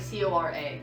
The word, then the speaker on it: Cora: between Corey Cora Cora okay I'm gonna write pronunciation for that like c-o-r-a Cora also Legend of Korra so as it